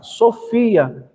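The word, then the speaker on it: σοφία: Então, palavra de sabedoria, né, que no grego é Sofia. Então, nós temos palavra de sabedoria, no grego se escreve Sofia.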